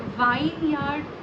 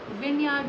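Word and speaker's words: vineyard: Okay, और विनयार्ड होता है, वाइन यार्ड नहीं होता, विनयार्ड होता है, विनयार्ड।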